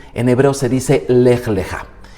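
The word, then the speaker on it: לְךָ: Son dos letras, lej, se lee de derecha a izquierda, lej, y luego la segunda palabra se escribe exactamente igual y se pronuncia leja.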